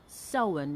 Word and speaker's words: Samhain: based on the celtic tradition of sowen which is spelt s-a-m-h-a-i-n and for me so in is that time in